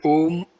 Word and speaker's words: Om: Pronounced Om as in home.